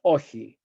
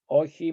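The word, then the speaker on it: Όχι: Metaxas said no, which the famous Ochi. It's in Greek, it's spelled O-X-I. Ochi means no.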